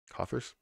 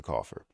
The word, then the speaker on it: coffers: for letting me know how do you say it covers coffers coffers old-timey way Coffer it's a cougher something that I'm doing because I'm coughing no that's not the right a a strong box or